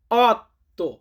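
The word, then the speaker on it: otto: এটাকে ইতালিয়ান ভাষাতে বলা হয় অত্য অত্য মানে হচ্ছে আট নয় নয় কে ইতালিয়ান ভাষাতে বলা হয় নভে ইতালিয়ান সংখ্যা নভে মানে হচ্ছে নয়।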